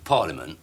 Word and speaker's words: parliament: not familiar with see you say parliament but it is spelled parliament well i'm talking about